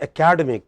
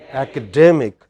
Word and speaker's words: academic: We cannot say academic, we should say academic.